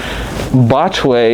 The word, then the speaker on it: Botchway: So Botchway is the anglicized version of Butchie, and I know that's kind of hard to understand, but it was just anglicized, so it sounds more of an English name than it does a traditional name.